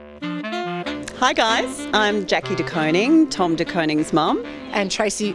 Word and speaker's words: De Koning: DeKoning? Are you kidding? It's DeKoning. DeKoning, like an ice cream cone.